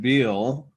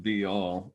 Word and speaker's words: Beall: I'm Beall. I sometimes pronounce it Beall.